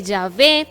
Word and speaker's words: Yahvé: qué dicen los estudiosos dicen que yahvé es digamos así como la pronunciación más adecuada cierto del nombre original de dios porque sabemos que ella